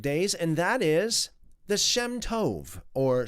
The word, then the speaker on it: Shem Tov: the Shem Tov, or Shem Tob. It's spelt as Shemtov or Shemtob. It can be both ways, Tov or Tob. I'm going to refer to it as Tov for the most part.